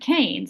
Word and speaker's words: Keynes: Scotland and it was pronounced K and it was spelled K A Y. And somewhere along the way it morphed and it became key and so that's where we get Keynesian. Um but the namesake is John Maynard Kanes and you can see his last name also look like look looks like Keynes or something like that.